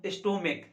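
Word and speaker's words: stomach: कारण ये है कि अगर किसी सिंगुलर नाउन के अंत में CH है, अगर उसका उच्चारण क हो, इस CH का उच्चारण का च ना होकर क हो, तो अगर क उच्चारण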